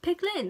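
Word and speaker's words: Peik Lin: We then meet Awkwafina, who is called, I'm gonna pronounce this really badly, Pick or Piek or something. Picklin. Oh, Picklin. Picklin, that's it.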